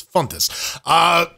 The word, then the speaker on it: Fontes: a fairly common name, Jordan's pronunciation is closer to a native speaker's, Fontes.